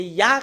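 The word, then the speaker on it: יה: plus de discussion, mais c'est Ya qu'on le prononce selon la Bible hébreu.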